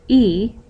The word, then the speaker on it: y: hour then you add this letter which mean which we pronounce e because in spanish it means and and then we add the